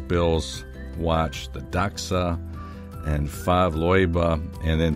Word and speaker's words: Favre-Leuba: and then pronouncing that i hope i'm pronouncing it correctly i went to youtube and that's the way that the swiss were pronouncing it so that's why i'm pronouncing it that way fav and here